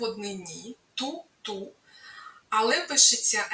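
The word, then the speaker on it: toute: звучить ту пишеться ти на кінці яка не читається приклад тульліва вся книжка далі у множині звучить ту як в однині ту ту але пишеться с на кінці туліліва всі книжки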